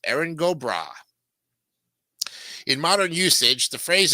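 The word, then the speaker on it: Erin go bragh: makes an a sound put it together it's pronounced eron gobra in modern usage the phrase is translated as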